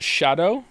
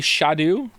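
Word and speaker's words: Scadu: me did you know apparently scat is pronounced Shadow uh why didn't they spell it like Shadow then how you getting Shadow from scat it's meant to be shadu it's never not entertaining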